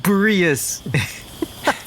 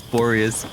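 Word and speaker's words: Boreas: Night of Bereus. Finally pronouncing that right. I always thought it was Borius.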